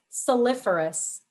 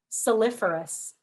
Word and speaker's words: saliferous: Your word is soliferous.